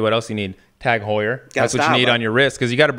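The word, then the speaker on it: Heuer: to the next level passionate about golf tag Hoyer Cur I thought I said it wrong I said it right tag you said it right Hoyer okay I'm going to start with the passionate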